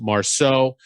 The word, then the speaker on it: Marceaux: Marceaux is Marceaux, pronounced Marceaux. I'll have all the contact for information for Clair out at Industrial Talk.